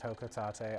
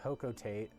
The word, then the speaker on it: Hocotate: on planet hocotate yes it's pronounced hotate I previously thought it was pronounced hocotate this is not the case um the first official